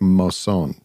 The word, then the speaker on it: Mosson: Who I think I believe he pronounces it Mosson because okay. when they were being inducted into the Rock and Roll Hall of Fame, he introduces himself, and when he says his own name, he's like, "My name is Cordell Mosson."